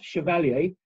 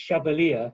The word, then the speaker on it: Chevalier: careful because it's not chevalier many of you will be familiar with maurice chevalier the famous ancient french Shanta anyway it's pronounced differently it's Chevalier as in Cavalier I think the family